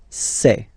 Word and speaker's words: ces: Really open this c'est.